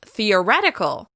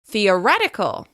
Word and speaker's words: theoretical: This word should be pronounced theoREtical, theoREtical.